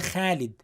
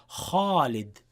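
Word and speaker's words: خالد: So they say Khalid, Khalid, Khalid. But in reality, in classical Arabic, in Quran, it would be kha, kha, kha, kha, Khalid. Okay? So this is an important point to remember, inshallah.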